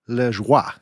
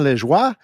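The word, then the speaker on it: Lajoie: a player named Napoleon leis and I actually spoke to a former colleague of mine who's Canadian they they gave me the correct pronunciation so I hope I'm hitting that correctly but Napoleon leis he was acquired by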